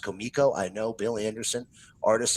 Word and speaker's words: Comico: And yes, ladies and gentlemen, it is pronounced Comico.